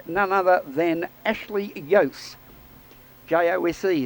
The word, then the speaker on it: Jose: J-O-S-E is the way you spell it, but I think in Mexico we pronounce it Jose. Jose. We'll call it Jose.